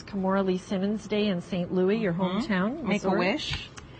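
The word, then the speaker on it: St. Louis: pardon me st louis that's the french way saint louis because we don't pronounce the us that's right and uh you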